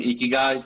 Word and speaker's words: ikigai: the word really well a lot of people have like difficulties you know saying ikigai but yeah that's how it's pronounced uh but yeah my